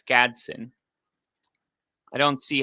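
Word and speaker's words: Gadsden: The second D is silent and it's Gadson.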